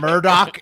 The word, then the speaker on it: Murdaugh: His name is pronounced Alec Alec. Murdoch, and it's Yeah, Alec spelled Murdaugh.